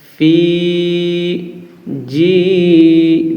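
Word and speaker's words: فِي جِيدِهَا: জি দাল জের দি হা আলিফ জবর হা ফি জি দি হা এক আলিফ ফি জি দি হা ফি জি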